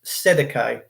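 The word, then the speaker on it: cestui que vie: And then the first thing that will come up is Sestui QV, which is pronounced Sedeke.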